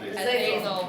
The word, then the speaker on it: Azazel: Azazel.